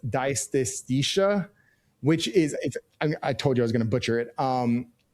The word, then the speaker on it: dysesthesia: It's dysesthesia, which is, I told you I was going to butcher it. It's almost like anesthesia, but with the DY in the front of it.